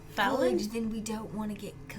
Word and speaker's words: Phelon: But if he's not Fallon? good, then we don't want to get close. Did I say it right, Fallon? Who are You mean Vethra? No, your mom. Fallon, yes.